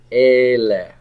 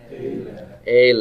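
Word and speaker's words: אלה: These is ele. Everybody say that. Ele. Ele. And the accent is on the aleph.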